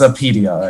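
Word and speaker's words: Apidya: made up and yeah the correct the correct pronunciation whatever correctness um is a pedia actually very simple by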